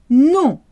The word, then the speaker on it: nom: The word for name sounds the same as no in French, non. People will often try and pronounce the M, but no, you don't do that. So no and name sound exactly the same.